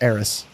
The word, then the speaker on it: Eris: And then Eris with the E is just Eris. Like a short E.